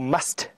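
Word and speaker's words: musth: Now must, or must, it depends on how you say it, M-U-S-T-H, is a condition that mature bull elephant go into a couple of times a year.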